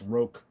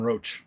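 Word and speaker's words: Roche: to say his name i think it's roke i used to call him roach he's like can you say my name properly i was like oh i thought i was because it's r-o-c-h-e so i guess rogue rock rock let's call him rock there's mike look he's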